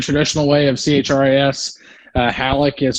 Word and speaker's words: Halicke: way of chris uh halleck is spelled h-a-l-i-c-k-e and uh just when it comes to pronoun pronunciation if you ever get mixed up just act like there's not an e on the end or i just started